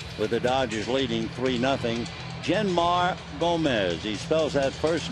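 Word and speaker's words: Jeanmar: Genmar Gomez, he spells that first name J-E-A-N-M-A-R, but it's pronounced Genmar.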